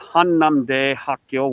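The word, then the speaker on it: 한남대학교: parts of korea so in korean that is pronounced han nam day hakyo which is han nam university oh let me change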